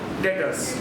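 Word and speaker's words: debtors: डेटर्स। क्या हो? डेटर्स। B silent, ठीक है? डेटर्स।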